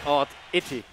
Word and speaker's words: Oddity: It's not oddity. I thought there was a an exaggeration? No, he said it's odd itty.